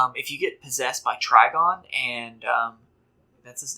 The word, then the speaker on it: Trigon: Also, another thing, if you get possessed by Trigon, and that's his name, right? Trigon.